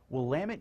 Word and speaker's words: Willamette: Willamette University, yes, it is pronounced Willamette, is again ranked in the top 75 national liberal arts colleges.